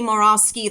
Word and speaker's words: Morawski: don't know five years pronounced your name incorrectly yes yes I think that's why I've stuck it out because I am determined that you will say morosi the correct way dude you will pronounce